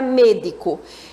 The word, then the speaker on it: médico: Eu vou dizer que ela é esdrújula, porque a sílaba tônica dela é a antepenúltima.